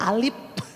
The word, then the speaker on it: alif: Zaman dulu tuh yang pakai lidi, alif, bukan lagi a, bacanya alif, ba, ta, sa.